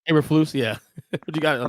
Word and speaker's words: Eberflus: Can you pronounce the new coach's name? Uberflus, what his name is? Kris? Yeah, Matt Eberflus. Eberflus, yeah.